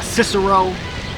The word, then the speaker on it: Cicero: It's pronounced with a K instead of a S. So you would say Cicero, right?